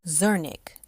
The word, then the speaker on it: Zernick: Zernick. Zir like sir and Nick like Nick.